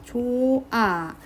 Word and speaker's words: 좋아: 없어지면 됩니다 무슨 말이냐 좋아 발음할 때 발음이 안 나죠 표기할 땐 ㅎ이 있는데 발음할 때 없어집니다 이런 것들이 탈락이고요 그